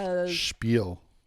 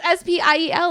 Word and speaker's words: spiel: Bro, there's no H. It's S-P-I-E-L, like I said. Spiel. Yeah, but it's spiel. Spiel. Let me see that. There's an H in the pronunciation.